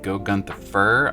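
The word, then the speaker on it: Gore-Grunta Fur: going to be using go Gunther fur I believe is how you say it and the trick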